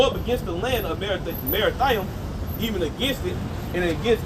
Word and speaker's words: Merathaim: Verse 21: Go up against the land of Merathaim. That's how you pronounce it in Hebrew as well. Merathaim, all right, which means double straight, a double rebellion, man.